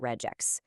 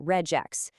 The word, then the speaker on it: regex: The first camp defends the hard G, saying regex, because well, it's an abbreviation of regular expressions. It makes total logical sense, right? But, the other camp defends the soft G, saying regex. This follows the natural English phonetic rule where an abbreviation takes on a sound similar to a word like register.